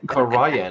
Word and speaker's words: Cairhien: In Cairhien or however people want to correct me, that's the way I read it. I don't give a shit what it's. Yeah, okay. Karayan. Thank you. I don't know. I pronounce everything.